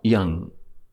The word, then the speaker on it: yam: So if seed syllable for this month for this chakra, then it is ya and a dot on top, yam.